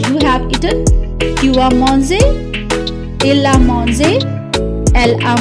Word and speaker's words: mangé: It will pronounce as A. Manger. Okay? And this acute symbol will be with E. So, je mange, tu as mangé, elle a mangé.